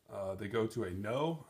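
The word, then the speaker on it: Noh: they go to a no i believe it's i believe it sounds pronounced just like know the word in english um play or drama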